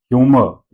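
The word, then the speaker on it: humour: Mall ह्यूमर some last वाला र हम नहीं प्रोनाउंस करते हैं। ह्यूमर इट्स नॉट ह्यूमर। र को रोल नहीं करना है।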